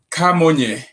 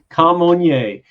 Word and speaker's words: Camonnier: Camonnier. Camonnier. And yes. Is that a little bit of the French component of where you're from? Exactly. The way we pronounce it is the French component, but really my name